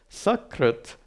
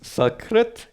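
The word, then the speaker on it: सकृत्: Like sakrit means once, shakrit means feces. You don't want to confuse those words, sakrit and shakrit. Difference between sa and sha, not much difference.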